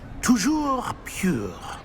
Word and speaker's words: Toujours pure: Toujours pure.